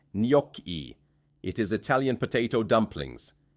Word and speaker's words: gnocchi: Gnocchi is said nyok-ee.